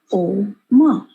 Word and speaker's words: ओम: सबसे पहले ओम का उच्चारण करेंगे और ओम का उच्चारण खंड खंड में करेंगे, अर्थात अ ओ म ओम ऐसे करेंगे।